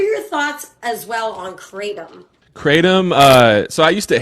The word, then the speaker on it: kratom: Apparently, and this is just a side note, apparently it's supposed to be pronounced Kratom.